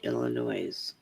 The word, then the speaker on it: Illinois: There's a Cuba road in Illinois. I wasn't even aware of that. S is silent, Brenda.